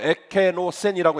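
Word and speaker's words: ἐκένωσεν: 여기서 말하는 비웠다는 말, 헬라말로 에케노센이라고 읽어요.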